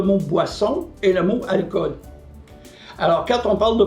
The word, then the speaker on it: alcool: faut pas oublier que le mot alcool même s'il s'écrit avec deux o n'a pas de H comme en anglais et il se prononce avec seulement un o un français ou